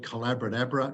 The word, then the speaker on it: Collaborator: Or if you want to look at the book, it's called Collaborator. It rhymes with abracadabra.